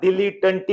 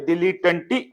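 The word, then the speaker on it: dilettante: ಐಎಎಲ್ಎಲ್ ಸಾರಿಡಿಐಎಲ್ಇಡಿ ಐಎಎಲ್ಇಟಿಎಇ okay ಡಿಲೀಟಂಟಿ this is ದ ಉಚ್ಚಾರ ದಿಲೀಟಂಟಿ ಅಂತ ಉಚ್ಚಾರ ಮಾಡಿಕೊಳ್ಳಿ ದಿಲೀಟಂಟಿ ಇದರ ಬಹುವಚನ ಡಿಐಎಲ್ಇ ಟಿಟಿಎ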